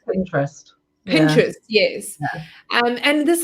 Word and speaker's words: Pinterest: Do you say pin interest or Pinterest? How do you say it? Yeah, it's lots of people add that extra kind of I, but it's actually just Pinterest.